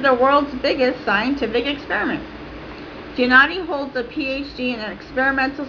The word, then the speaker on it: Giannotti: Quote from Wiki, Fabiola Giannotti, Italian pronunciation Fabiola Giannotti, born 1962, is an Italian